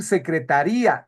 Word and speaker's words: secretaría: Mira, no es lo mismo decir secretaria, la persona, a decir secretaría, el departamento. Escuchas la diferencia, dices secretaría. Ahí hay dos vocales que